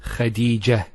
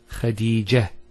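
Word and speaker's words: خديجة: Here the word is Medina and Khadija. Notice one thing, I didn't mention the ta. I actually pronounced the ta marbuta as a ha. Medina, Khadija.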